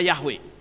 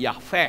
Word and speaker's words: Yahweh: WH tetapi yeha Hai sehingga pembacanya bukan lagi Yahweh tetapi aveh hai lalu Apakah itu benar